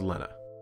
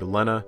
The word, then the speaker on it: Lena: Lena's name is only spelled with one N, by the way, but she asked that her name be printed with two so no one would mispronounce it as Lena.